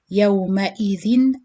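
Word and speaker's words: يومئذٍ: kha, like this case, so you pronounce the tanween clear. You read it yawma idhin ayna, yawma idhin, with clear noon sakin sound on the tanween.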